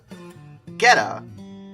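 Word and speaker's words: Getå: Gheta, which I'm almost positive is how you say it, is a town that's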